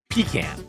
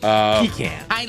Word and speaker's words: pecan: Pecan. Yeah. With stress on the first syllable, pecan. With stress on the second syllable, pecan.